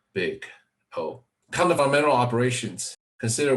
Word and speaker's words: Big O: the worst case Pico this is pronounced big oh kind of environmental operations